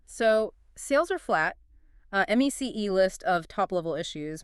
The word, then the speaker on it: MECE: MECE, pronounced MEC.